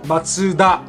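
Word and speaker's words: マツダ: of and it is Mazda in Japanese it is Matsuda it is actually not pronounced MACBA it is ma TSU da is the way how we pronounce as a Japanese person similar to Honda and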